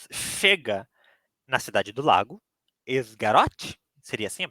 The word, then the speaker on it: Esgaroth: grupo de anão chega na cidade do Lago esgaroth seria assim a pronúncia sim quando ele chegou na cidade do